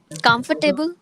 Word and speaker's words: comfortable: Comfortable. Comfortable. Yes. It is basically Make yourself comfortable, not comfortable. comfortable. Yes, comfortable. Mm-hmm. So you stress on Comfortable. COM.